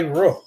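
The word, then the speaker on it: روح: What it said, one, the Arabic pronunciation for spirit, believe it or not, is ruh.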